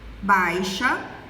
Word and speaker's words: baixa: Não damos ênfase à vogal I, à semivogal I. Então, às vezes pronunciamos baixa ao invés de baixa e torneira ao invés de torneira.